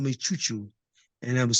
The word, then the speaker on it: Chu Chu: So yeah, so he called me Chu Chu, and well, in Spanish it's Chucho, you know. So I changed it to Chu Chu, CHU, as opposed to CHO, you know.